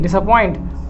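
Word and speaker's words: disappoint: ठीक, और थोड़ा सा और आगे आपको पढ़ाएं इसमें, तो आपको पढ़ेगा डिस AH पॉइंट, क्योंकि यहाँ पे पी का प्रोनाउंसिएशन है नहीं, डिसअपॉइंट आता है, TAH आता है, डिसअपॉइंट।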